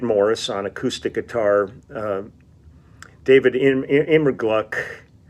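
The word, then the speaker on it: Immergluck: on acoustic guitar David immigruck I think it's I pronounce his name emmer Gluck on pedal steel guitar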